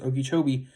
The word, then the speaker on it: Okeechobee: That's how it's pronounced, Okeechobee.